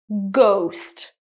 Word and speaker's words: ghost: Ghost. It's called a hard G.